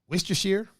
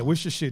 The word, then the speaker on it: Worcestershire: Worcestershire. Yeah, I can't even spell that. So. Yeah, Worcestershire. There's a whole bunch of letters in there you don't even need. Right. There's letters in Worcestershire that you don't even.